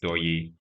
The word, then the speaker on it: Doye: The word there is Doye, Doye, pronounced Doye.